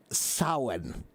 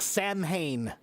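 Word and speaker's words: Samhain: But the pronunciation is sin. I told you it's crazy. It's crazy. That's It looks like Sanhane, but the pronunciation is sin.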